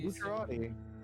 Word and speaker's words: Bucciarati: The guy with Yeah, the Bucciarati. Bucciarati. Yeah, Bucciarati. Yeah, Bucciarati. Yeah, it's hard to say his name. It's spelled like Bucciarati, but it's Bucciarati.